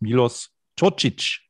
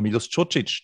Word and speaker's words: Milos Čočić: Und Reinhard Gmeter hat gesagt, er heißt Milos Čočić. Und dann sagen wir Milos Čočić.